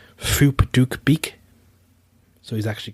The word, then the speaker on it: Phuc Dat Bich: So, if read in English, the name sounds particularly rude, although in Vietnamese, the name is pronounced Phuc Dat Bich. So he's actually called Phuc Dat Bich.